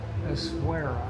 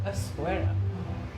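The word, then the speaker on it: Essaouira: Essouria. Essouria.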